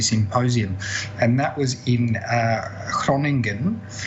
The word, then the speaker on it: Groningen: and that was in Groningen, which I definitely couldn't pronounce before the conference. So it's more sounding like Groningen, which is a town, a very, very nice town in the north part of Holland.